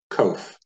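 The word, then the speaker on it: קוף: And you would pronounce this word kof.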